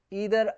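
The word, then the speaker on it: either: Next है combine द sentence using इदर और। इदर और या इसे आइदर और भी रीड करते हैं। तो दोनों प्रोनाउंसिएशन सही है।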